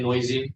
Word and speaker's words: NOEASY: What's the right way to say it? Oh, you can say noisy. It's Noisy.